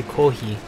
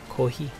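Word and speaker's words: コーヒー: how they say coffee in Japan they say Kohi yeah you know they don't they don't you know they pronounce the S like an egg an H Kohi now I've always challenged so cute I love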